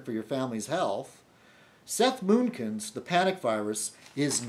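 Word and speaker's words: Mnookin: And it's written by Seth Moonkin, Moonkin. I suppose the N is silent.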